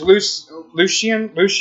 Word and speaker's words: Lucien: Then there's Lucien, I think is how you pronounce it.